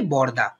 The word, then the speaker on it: বড়দা: দেখো ডয় শূন্য রয়ের নিচে একটা হসন্ত দেওয়া আছে, আমরা উচ্চারণ কি করি, বড়দা, আমরা বলি না বড়দা, এরকম বলি না, আমরা বলি বড়দা, তাই এখানে অটা লোপ পেয়েছে।